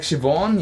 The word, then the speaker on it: Siobhan: non heirs tend to know on how to pronounce them okay like shivon yeah yeah that's that's siobhan shivon um oh